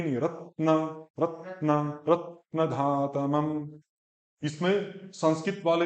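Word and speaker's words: रत्नधातमम्: इसमें संस्कृत वाले भी बहुत ज्यादा, या तो रत्ना कर देंगे, या रत्ना, रत्ना धातमम, आ को बड़ा कर देंगे, रत्न धा, न के तुरंत बाद धा बोलना पड़ेगा, रत्न धातमम, रत्न धातमम, रत्न धातमम।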